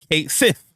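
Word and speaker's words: Cait Sith: in Final Fantasy 7 rebirth Kate Sith is pronounced Kate Sith like we been saying for years but there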